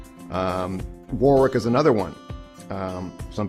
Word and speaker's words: Warwick: learn that it's um Warwick is another one um some people say walk or they don't even they take out the r entirely they say Warwick when socket is another